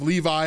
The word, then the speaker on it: Levi: what part is yours pitched I'm pitched in Levy Levy yeah me too wait you ought pitched in Levy yes leev so he's talking about the tribe of Levi is how we would pronounce it today Levi being the Priestly tribe